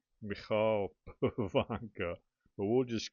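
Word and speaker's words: Michal Pivoňka: Beautifully signed by, I believe he pronounces his name Michal Pavanka. I think when I was a kid watching him play, they called him Michael Pavanka, but I think it's Michal Pavanka.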